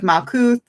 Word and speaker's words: Malkuth: She pronounces the TH at the end of Malkuth.